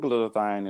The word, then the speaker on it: glutathione: And I want you to tell me more about glutathione.